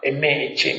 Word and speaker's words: Maha: This one is called Maha, M-A-H-A, Maha, Thanha, T-H-A, no, T-A-N-A, T-A-N-A, T-A-N-H-A, T-A-N-H-A, Thanha, Sankhaya, S-A-N-K-H-Y-A, Sutta, S-U-T-T-A. And this is Majjhima Nikaya number 38, Maha Thanha Sankhaya Sutta.